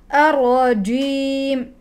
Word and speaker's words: الرجيم: الرجيم من الشيطان الرجيم ركزي على اخراج الجيم فلا تجعليه معطشا ولا تجعليه غائرا فتقول انما هو حرف شجري من شجر الفم من الوسط الرجيم بسم الله الرحمن الرحيم